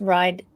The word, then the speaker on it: Wride: my life, and that's Ride. For people who missed it at the beginning, there's a W at the beginning of Ride, so it does kind of rhyme with thrive, ride, but you can rearrange the letters to say weird.